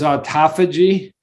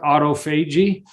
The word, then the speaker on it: autophagy: A term I want you to know, if you don't know, is autophagy. Some people pronounce it autophagy. Auto means self. Phagy means eating.